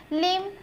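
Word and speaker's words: limb: है आपका साइलेंट है लिम ठीक है आप लिम बोलते हैं लिंब नहीं बोलेंगे कॉलम एंड साइलेंट है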